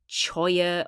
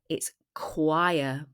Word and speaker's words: choir: So, it's not pronounced choya or chia. It's choir.